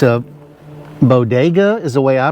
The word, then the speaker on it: Bodega: Um it's a Bodega is the way I pronounce it b o d e g a and it's the MCD 15 B1 uh mobile refrigerator.